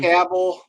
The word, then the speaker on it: Cavill: Um, Henry Cavill. Did I say it right this time? Cavill.